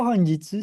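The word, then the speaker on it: 本日: Kenapa honjitsu sih? Saya enggak kow aja. Ini dibacanya kan hong. Ini jitsu. Honjitsu.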